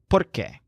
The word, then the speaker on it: porque: have to sell pork the word porque means because so note that the stressed syllable sounds like pork porque of course Joel hates